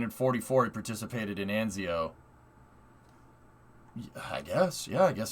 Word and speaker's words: Anzio: way that's insane dude the a in italian is pronounced like the a in lancia anz so anzio anzio this is why knowing